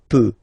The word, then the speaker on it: peux: So the first form that we'll have is je, as usual, so je peux, okay? Final X not pronounced here, okay?